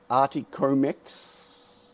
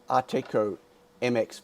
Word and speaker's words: Arteco MX: So, except how do I even pronounce Articomex? No, Arteco MX for Mexico.